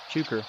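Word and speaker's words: chukar: Sounds like it's saying its name with emphasis on the second syllable. Chuker.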